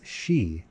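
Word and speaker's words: sidhe: The most famous representatives of this court are the sidhi pronounced as she by those who have heard the word spoken and survived to repeat it.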